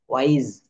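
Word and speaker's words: wise: রাই ইস, ওয়াইজ, size.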